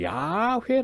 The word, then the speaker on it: 야훼: 그렇죠 의원 발음이 아닙니다 원 바르는 사실은 학자들에 의하면 은 야훼 라고 하는 발음입니다 그죠 그런데 이 야해